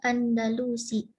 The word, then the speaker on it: Andalus: Iya, jadi stressingnya pada nun. Supaya jangan terpaksa kita stressingnya pada lam.